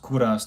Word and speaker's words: Kovras: So, it's spelled Kovas, but it's pronounced Kuras like my last name.